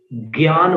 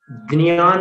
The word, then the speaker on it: ज्ञान: गुजरात में ज्ञान बोलते हैं, ज्ञान, ग और न। हिंदी में ज्ञान बोलते हैं, ग और य। मराठी में ज्ञान बोलते हैं, द और ञ। द न, ज्ञान, द न और य।